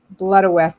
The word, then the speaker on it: Blodeuwedd: Blodeuwedd is how you say it.